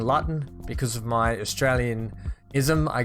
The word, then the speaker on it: Luton: I guess we just L-U-T, everything becomes Lut. And probably more pronounced because of my northern Australian accent more so. We seem to be a bit more slang heavy. But it is actually pronounced Luton.